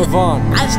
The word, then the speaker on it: Giovanni's: Giovanni's Day. Yeah, you say it like an Italian, not Giovanni.